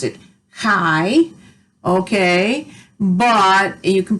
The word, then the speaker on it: chi: hi it's spelled c-h-i and you're supposed to pronounce it hi okay but you can pronounce it chai or however you want to you just need